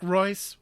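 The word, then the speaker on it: Reuss: Eric Royce, rhymes with choice, has brought us sort of the un-Catan.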